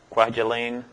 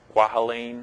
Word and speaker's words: Kwajalein: Who can pronounce that? Kwajalein. Kwajalein.